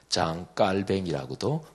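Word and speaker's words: Jean Calvin: 시기에 같이 활동도 했던 요한 칼빈, 존 칼빈, 장 깔뱅이라고도 프랑스식 발음으로 부르지요.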